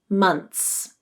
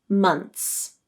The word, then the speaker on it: months: with the easier pronunciation months months many native speakers will drop the th sound because it occurs between a consonant and a final s in order to make their speech more fluent months months you can use